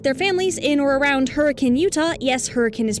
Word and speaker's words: Hurricane: were living with their families in or around Hurricane Utah yes hurricane is pronounced that way in the late '70s early